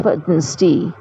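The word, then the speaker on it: Wednesday: Today is वेडनेसडे. डी वहाँ पे silent है.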